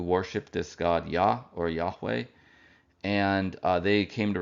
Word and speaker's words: Yahweh: the Middle East um modern Scholars have reconstructed the pronunciation of this name as Yahweh um and we do